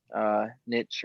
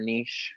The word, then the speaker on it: niche: he did, and find his little niche or niche, however you want to pronounce it, in the roster, I